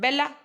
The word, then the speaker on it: bella: For example, in Italian, bella, bella मतलब beautiful, the I is long and must be pronunciated longer than the I in a word like soul, soul, sun. Long consonants are indicated in transcription